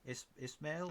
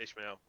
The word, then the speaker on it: Ismail: Ismail. That's the one. That guy. Yeah, that's how you pronounce it, Ishmael. Ishmael.